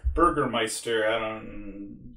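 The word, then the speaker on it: Bürgermeister: gone because it was all stolen by the burger master burgermeister german pronunciation it was stolen by the cops the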